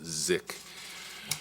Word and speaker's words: SICK: You see the SICK, but it's a German sensor, pronounce it ZIC.